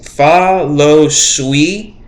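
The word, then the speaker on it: Fah Lo Suee: comic books where she was called fa luz fa lo sui f-a-h-l-o-s-u-e-e i think that's how you pronounce it but much like their father who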